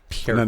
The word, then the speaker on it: Peart: Peart. No. The EAR is ear, and then just put a P and a T on it.